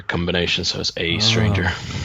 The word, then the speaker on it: aeStranger: dragged me in a second how do you pronounce a stranger it's just a stranger it's just that that's sort of letter combination so as a stranger it's just an interesting look for for the